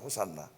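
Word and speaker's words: Hosanna: 그렇게 읽듯이 호시아 지금 우리를 구원해 주세요라고 하는이 구약의 기도인데이 기도를 헬라어로 바꾸면은 발음할 때 호산나라고요. 호산나 그래서 호산나 찬송을 불렀어요.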